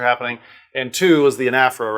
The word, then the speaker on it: anaphora: And two is the anaphora, right?